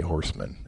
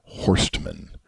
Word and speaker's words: Horstman: It's actually spelled with a T, Horstman, but I just say Horseman, and nobody's the wiser. And I certainly don't introduce myself as Horstman.